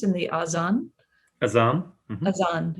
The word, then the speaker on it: Adhan: Azan is how you say it, yes. And I think it's spelled Adhan, is that right?